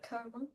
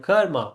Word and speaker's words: karma: Yeah, Karma. that's called karma. But whether it's number one or number two, we will see next time. But the real pronunciation is karm. Because the Karma. British pronounce it like that.